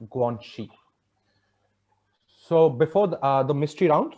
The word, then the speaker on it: Guangxi: Guanxi, pronounced Guangxi.